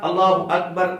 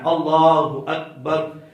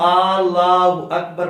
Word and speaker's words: اللہ اکبر: نہیں ہوگی۔ اب آج اللہ اکبر تلفظ ہے نا، لام کو صرف لمبا کرنا ہے، اللہ اکبر یہ تلفظ ہے، اس کو اللہ اکبر پڑھ دیں گے پھر